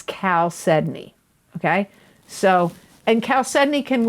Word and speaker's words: chalcedony: e d o n e y it's not pronounced cow it's not pronounced chao sedney it's cal sedney okay so and chalcedony can look many different